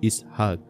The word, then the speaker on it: ইসহাক: ইসহাক শব্দের প্রকৃত উচ্চারণ হলো ইসহাক এটা ইব্রানি ভাষার শব্দ।